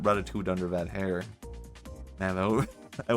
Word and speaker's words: ratatouille: It's just, you know, the dish, ratatouille. Is that how you... ratatouille? Did I pronounce that wrong? It's pronounced ratatouille.